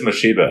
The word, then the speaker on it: Mashiba: Oh, Mashiba. Yeah. Mashiba. Thank you for correcting the pronunciation. You can tell. I think it is Mashiba, actually.